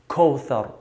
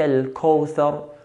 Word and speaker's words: الكوثر: that is واو سكون, we have to be careful in not pronouncing the letter closer to an O, the English O. كوثر, which is common to hear. إنا أعطيناك الكوثر. We don't have O in Arabic. We don't say كوثر.